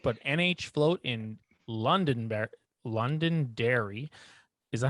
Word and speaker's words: Londonderry: new hampshire float but nh float in london london dairy is that how i pronounce it i hope so it is londonderry yeah and uh you've it's i found you